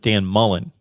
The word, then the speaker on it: Dan Mullen: We had quite the debate going back and forth about the pronunciation of Dan Mullen. No S.